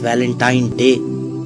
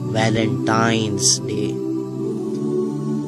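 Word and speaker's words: Valentine's Day: फी एस लगाया जाता है अब आप इस वैलेंटाइन डे के नाम पर गौर करें इसे जो आम कहा जाता है यह वैलेंटाइन डे है लेकिन हकीकत में जो इसका प्रोनाउंस एशन है वह है वैलेंटाइंस डे य एक वैलेंटाइन वाला दिन है और उस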